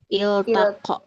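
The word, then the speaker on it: التقى: Berarti hamzah fata wasalnya dibaca i. iya, kasro. Hamzah wasalnya dibaca kasro. Jadi ini cara bacanya gimana? Il-taqo.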